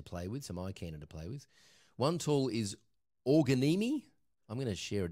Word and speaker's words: Organimi: one tool is organi it's spelt o-r-g-a-n-i-m-i it's kind of like a play on the origami word but it's for organizations